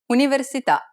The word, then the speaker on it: università: Università. The accent is on the vowel at the end of the word, so the answer is the last syllable.